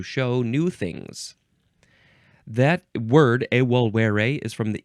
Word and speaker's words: evolvere: This is from the Latin evolvere, because the V's are W's.